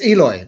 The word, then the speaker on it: Eloy: And with that band, the progressive band Eloy, is that how you say it? Yes, Eloy, that's right.